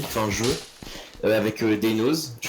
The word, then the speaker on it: Deinoz: Avec Daynos. Je prononce bien ton pseudo, je sais pas.